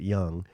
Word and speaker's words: Jung: Um uh Jung, J U N G, but he pronounces it Young.